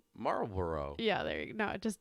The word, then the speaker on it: Marlboro: even pronounce it but it's like marble row yeah there you go no it just doesn't roll off the tongue syllables yeah marlborough all right i'm done